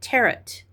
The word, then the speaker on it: tarot: Some people call it Terret. I don't know. How do you pronounce it? I say tarot.